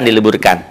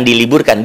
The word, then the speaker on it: dileburkan: Dimasukkan, dileburkan. Dileburkan, bukan diliburkan, dileburkan, dimasukkan.